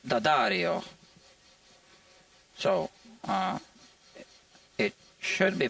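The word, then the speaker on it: D'Addario: apostrophe um and the Dario strings some people pronounce it Diario it's wrong right it's D Daario so uh it should be pronounced dangelico but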